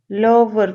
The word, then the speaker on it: Louvre: Louvre, pronounce it Louvre, has the most famous painting of